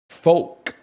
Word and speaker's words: folk: folk silent L folk music.